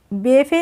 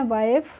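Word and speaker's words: wife: एक होता है वाइफ तो हम इसको भी बफे नहीं पढ़ते हैं हम इसको पढ़ते हैं वाइफ hello they had टू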